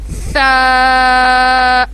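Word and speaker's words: ث: और फिर हम प्रोनाउंस करेंगे सा।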